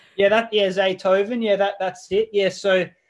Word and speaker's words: Zaytoven: Yeah, Zaytoven.